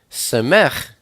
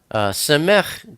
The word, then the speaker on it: Samech: Samech is the number 60, and it's pronounced S, like Samuel.